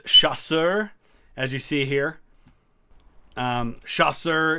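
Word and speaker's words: chasseur: the colonel dreon video is because I kept mispronouncing the French word for light Infantry it's chasser as you see here Schuster is like their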